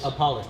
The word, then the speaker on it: Apolis: Apolis, like UH, Paul, Apolis. Apolis.